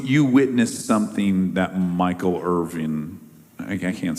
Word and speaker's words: Irvin: witnessed something that Michael Irving I can't say his name is Irvin Irvin not Irvine not Irvine and not Irving Irvin okay yeah what first